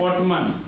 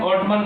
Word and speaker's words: autumn: हुआ कि जैसे मानिए लिखते हैं ऑटमन, AUTUMN, ठीक है, मानिए कि ऑटोमन या जो भी है इसको हम लोग क्या पढ़ेंगे, ऑटमन पढ़ेंगे। लेकिन यहाँ से देखिए कि हमारा क्या होता है, एन साइलेंट होता है और इसको क्या कहते हैं, ऑटम पढ़ते हैं, ऑटमन नहीं पढ़ते, इसे